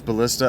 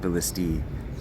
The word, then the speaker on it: ballistae: they'll just set those ballista up where they can't reach me. It actually is pronounced ballistae. But anyway, multiple ballista is AE, ballistae.